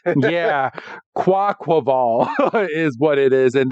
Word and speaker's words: Quaquaval: That one's hard to pronounce. Yeah, Quaquaval is what it is, and that's a water fighting.